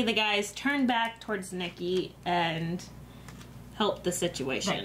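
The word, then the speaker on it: Nicky: But it was the first time meeting Mickey, right? At the RV. Nikki. Yeah. Oh, good Lord. It's close. Not Michael. Not Nick. How dare you get his name wrong? Nikki.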